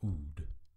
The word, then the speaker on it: Oud: However, the Dal at the end of the word is pronounced D, as in the word end.